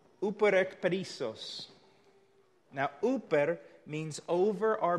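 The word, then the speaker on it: ὑπερεκπερισσοῦ: Let me see if I can give you the correct pronunciation. Uperekperisos.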